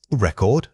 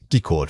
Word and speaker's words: record: Record, noun, decord, verb. The stress moves from the first syllable to the second.